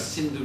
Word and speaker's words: Sindhu: they came to this Sindhu River. And in their language, they pronounced S with the H sound. So they called this river the Hindu River instead of the Sindhu River.